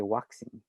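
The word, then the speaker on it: ワクチン: borrowed words and they they say waxing with a w waxing oh with a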